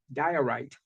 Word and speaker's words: diorite: How you pronounce that? Diorite.